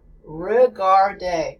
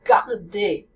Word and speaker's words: regarde: As students listen to the difference between the American R, regarde, which is not the correct pronunciation, or the French R, regarde, then students begin to